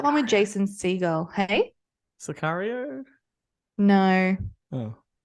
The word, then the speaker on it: Sicario: with Jason seagull hey sicario no oh isn't that Cicero what I thought it was Cicero no that's not how you pronounce it no it's sicario oh okay that's cooling